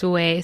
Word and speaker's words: Suay: You can say it a million different ways, but technically it's Suay Sew Shop. Okay. But it depends on the moment.